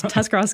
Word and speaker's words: Tuscarawas: I can't even pronounce that. So. I know. It's Tuscarawas County.